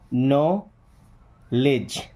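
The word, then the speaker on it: know: okay, then एक या अक नॉलेज, क्या एक्नॉलेज, एक नो, देखिए के एन ओ डब्ल्यू क्या पढ़ते हैं नो, के एन ओ डब्ल्यू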